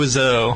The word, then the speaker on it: Wiseau: Does anyone know how to pronounce his Tommy name? Wiseau.